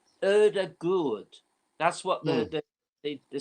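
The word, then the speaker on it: Ødegaard: moment erdegaard or actually i looked up the pronouncing of his name it's erda good that's what the the the second day which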